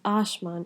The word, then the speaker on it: Ashman: Asman, which means sky in Urdu, is pronounced as Ashman in Sylheti because the S again becomes a sh sound.